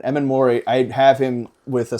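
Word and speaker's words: Emmanwori: I think I see him, it's pronounced Immanwori. I can never get that right. Immanwori, I'd have him with a sack and interception in this game.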